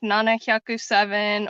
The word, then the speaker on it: Nana Hyaku: Just or like Nana Hyaku7 or just like Nana.